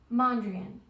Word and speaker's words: Mondrian: I've been practicing yet Mondrian it looks like Monde rain that's how I remember like rain but he is a